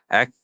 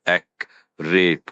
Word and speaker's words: accurate: It's accurate. 3 syllables, not accurate, which I hear sometimes.